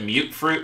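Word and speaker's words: mutfruit: month but fruit tree they pronounce it mute fruit in the game which is weird to me these can both be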